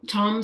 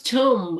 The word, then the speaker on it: tomb: talked about that one it's uh Tom Tombstone oh it's tomb Tombstone Tom yes tomb Tombstone so Tombstone is our